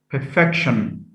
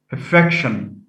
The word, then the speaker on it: perfection: so we have uh the suffix i o n is one of the uh suffixes that affect stress placement in the stem and that stress is shifted from the first syllable to the second so ion perfect has stress on the first syllable by adding i o n we get perfection perfection not perfection injure could be a